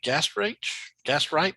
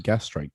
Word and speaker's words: Gastrike: Am I saying this right? Gastrite? Is that right, Israel? Oh, no. That would be Gastrike. Gastrike.